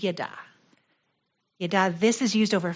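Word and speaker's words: ידע: out this word now the way you pronounce it is not yada yada this is yada yeah this is used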